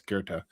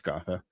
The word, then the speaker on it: Gotha: gotha critique excuse me always pronounce it like it's kerta it's not it's gotha um which we also